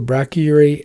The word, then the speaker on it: brachyury: Uh we have the brachyury gene. Pronunciation, brack, like back, uh your e. Brachyury gene.